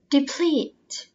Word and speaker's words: deplete: fossil fuel fossil fuel deplete deplete deplete stress on the second syllable obstacle obstacle obstacle attribute